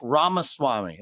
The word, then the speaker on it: Ramaswamy: And we got a special guest in the building, Vivek Ramaswamy. Did I say it right? That's actually pretty good. It's better than most hosts. Yeah, it's like Ramaswamy, like CD-ROM, but yeah.